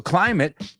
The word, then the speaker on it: climate: it it it e okay so climate rhymes with private absolutely I believe the